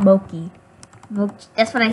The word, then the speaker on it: Moki: You said Moki. We're not gonna... get any comments, but comment. What did I say? You said mo, like M-O dash key. Like key, not mochi. If you're gonna pronounce it right.